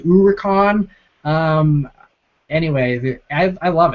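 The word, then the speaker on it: Huracán: thought on the new Huracan uh SC bucks uh it's my buddy Simon um I love the Huracan I know I'm probably mispronouncing it I've heard some people say it's called the uron um anyway I I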